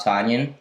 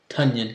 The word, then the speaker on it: Tonyan: Tunyon. No. It's Tonyan. Bob Tonyan. It's 1.5 points. Like ton.